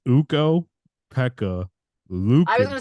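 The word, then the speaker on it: Ukko-Pekka: I said I think I said puka you said it wrong yeah wrong you know I'm wrong with names whatever I yeah you are yeah but it's uko Pekka Lucan Lucan he was really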